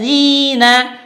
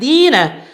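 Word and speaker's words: الذين: Sworo call ladzina Zira dia menggantinya dengan di maka berbunyi seperti ini senior opale Dina Lady Nadia mengganti huruf dza dengan huruf dan ini salah fatal makanya yang benar adalah gunakan huruf lah senyulong Polres zina zina zina bukan dinas tapi yang benar zina Hai senior otol ladzina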